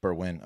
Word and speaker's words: Berwyn: really Berwyn?